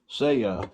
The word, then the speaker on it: Svea: what we have is the seya 123 stove and checking with Google that's how you say it say you these are